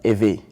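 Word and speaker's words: Ewe: you spoke that was a av yeah it is spelled e-w-e and that was your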